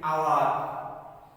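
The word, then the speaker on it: hour: আগেও এন বসে, যদিও এইচটা কনসোনেন্ট, এখানে এইচ উচ্চারণ নেই, তাহলে কি হবে? শব্দগুলো আমরা দেখে নেই। আওয়ার, এয়ার উত্তরাধিকারী, এয়ারএস উত্তরাধিকারিণী, অনারেবল সম্মানীয়, অনেস্ট, সব এগুলোর আগে কি বসে?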